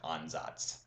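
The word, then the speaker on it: Ansatz: it's completely indecipherable but the word is actually pronounced on Zots and what that means it's it's a trial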